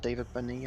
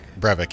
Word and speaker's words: Brevik: Studios and Blizzard North employees, including is it David Benny? I can't keep his name wrong. Brevik, yeah.